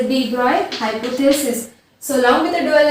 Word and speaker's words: de Broglie: सो read it as a de Broglie, though it looks like a de Broglie. Okay, its correct pronunciation is de Broglie.